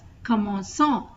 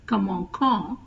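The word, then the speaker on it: commençons: A O and U so to pronounce as come on S instead of Kam on you add the axos sedil to the C so it becomes new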